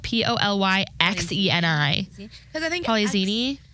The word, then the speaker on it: Polyxeni: Because I think Polyzini. I've seen X's in names and it was pronounced with like a Z. Polyzini.